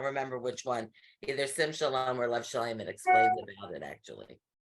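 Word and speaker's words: שלום: So like shalom, it's the last syllable, but what they're Most saying, words, you'll see, most words, it is that the default is the last syllable.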